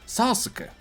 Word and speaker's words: Sasuke: Ale oni nie czytają Sasuke, ale też nie czytają do końca Sasuke. Oni czytają Sasuke. Jakby to U było tam bardzo delikatnie zaznaczone.